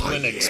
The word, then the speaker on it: Linux: Linux. That's how it's pronounced, but yes. No, it's my cheats now. Nice and clean. No, it's always been pronounced Linux, bitch.